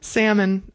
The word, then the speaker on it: salmon: Yeah, salmon.